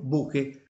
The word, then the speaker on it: bokeh: La lettera H è stata introdotta per aiutare gli anglofoni a pronunciare correttamente la parola bokeh. Io pronuncio bokeh.